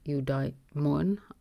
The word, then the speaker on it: eudaimon: That is the whole catch, because he's using the word from eudaimon. The accent is on the middle, which means blessed with a good genius or fortunate.